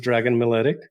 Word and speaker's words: Dragan: And my name is Dragan.